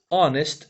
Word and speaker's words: honest: del asunto es que honest en este caso no pronuncia la h como normalmente se hace en inglés entonces qué pasa nosotros